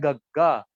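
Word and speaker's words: ਗੱਗਾ: इसको पंजाबी में ऐसे ही लिखते हैं बट प्रोनाउंस होता है गग्गा, साउंड देता है ग की।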